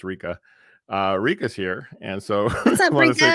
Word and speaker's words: Rieka: Before we get to that, though, I want to welcome also Makeup by Rieka, actually pronounced Rika.